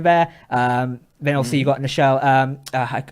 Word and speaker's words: Nichelle: Then obviously you've got Nichelle. I never pronounced the name correctly. Michelle Nichols. There we go. I always actually say Michelle instead.